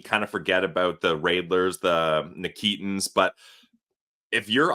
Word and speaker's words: Reidler: All right, Pilsy, great conversation coming up with Kevin Reidler, and that's the pronunciation he gave us. Yes. That's what we're going to ride with. Kevin Reidler, excited to see his upcoming season.